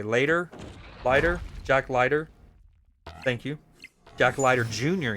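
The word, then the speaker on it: Leiter: Pronounced lighter. What did I say? Lighter. Lighter. Jack Lighter.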